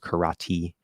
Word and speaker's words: karate: movie The Karate Kid Karate who's pronounced with a d Karate Kid go watch